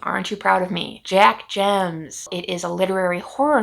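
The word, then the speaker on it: Jemc: jack gems i finally looked up how to pronounce her last name aren't you proud of me jack gems it is a literary horror novel published by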